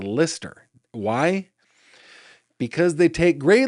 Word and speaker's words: Leicester: in the fruited plains, we might read that and say, that says Leicester or Leicester, but it is not. It says Lister.